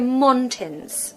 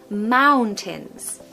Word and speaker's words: mountains: need ow mountains mountains we don't want to hear mons okay or montains it's mountains the second part is like tins like a tin of soup think of that word tin and you'll pronounce it perfectly now again if you